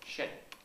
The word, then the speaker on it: Shen: Shen. It's Okay. very similar to the Japanese word Zen.